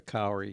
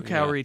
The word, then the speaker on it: kauri: but Lenore in Canyon Country asked to spell that tree name, and I think she's talking about the kauri tree.